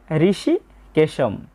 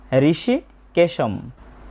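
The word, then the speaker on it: হৃষীকেশং: প্রথমে আছে ঋষি কেশম। বাংলা উচ্চারণের মত। তবে শব্দের শেষে অনুস্বর থাকার কারণে আমরা অর্ধেক ম এর মত একটা উচ্চারণ করব। ঋষি কেশম।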